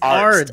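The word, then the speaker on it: Arzt: It's Ards. A-R-Z-T. A-R-T-Z. A-R-Z-T. I think it's spelled A-R-D-Z.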